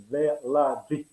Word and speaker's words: Veladzic: The right pronunciation is Veladzic. Veladzic. Yes, that's the closest. Veladzic. Yeah, thank you very much. D and Z is a G, is specific pronounced G.